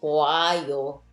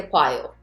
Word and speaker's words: 봐요: But obviously, if you were to attach yo after, nobody will say 보아요. Right? It's so hard to pronounce. 보아요. Therefore, you just say 봐요. Okay? Faster like that.